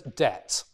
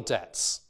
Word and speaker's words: debt: you you pay your debts right this word is pronounced debt there's a tur there is nowhere to be seen a bur right no one in the english-speaking world would say Deb or something like that or